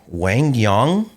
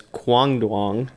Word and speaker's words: Quang Duong: Wangyang, that's how you pronounce it. Also known as Kuang Duang, also known as QD.